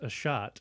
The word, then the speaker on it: Asshat: about one of yours his name is pronounced a shot but it's spelled asshat yeah it's my it's